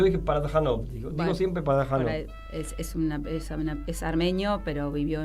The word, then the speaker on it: Parajanov: Sí, el color de la granada de Sergei Pajaranov. Es lo pronuncié armenio. mal, yo dije Parajanov, digo Bueno, siempre Parajanov.